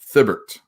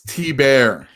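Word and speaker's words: Thibert: Thibbert is how you don't say his last name. Okay. But that's how you spell it. Thibbert. But it's T-Bear.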